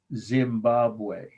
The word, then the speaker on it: Zimbabwe: to be cone-shaped c-o-n-i-c-a-l conical tower at great zimbabwe and that's the word great of course second